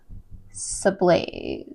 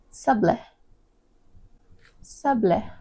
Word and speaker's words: sablé: Today we are going to be making these brown butter and sage sublaze. Sublaze sables h maybe I should learn how to pronounce this cookie first.